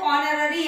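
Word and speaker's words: honorary: अब यहाँ पे एच है, लेकिन जब इसको प्रोनाउंस किया जाता है तो ऑनररी यानी ओ का स्वर आता है, और वो जो ओ है वो एक स्वर है, कॉन्सोनेंट नहीं है, और इसीलिए वहां पे एन लगेगा.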